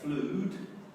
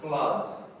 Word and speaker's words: flood: But now we have O and O next to each other again, but it's not an oo sound. We don't say flood, it's a flood.